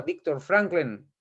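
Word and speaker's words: Viktor Frankl: porque lo pronunció fatal franklin es es así como se pronuncia victor franklin se pronuncia así creador de la psicología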